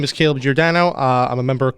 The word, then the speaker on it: Giordano: So, and it's Caleb Jordano. Yep. Caleb Jordano. There we go. I said it right.